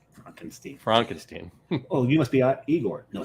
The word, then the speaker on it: Igor: Oh, you must be Igor. No, it's Igor. Igor.